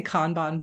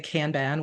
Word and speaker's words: Kanban: So I say Kanban board, but you'll hear some people say Kanban, which is also fine.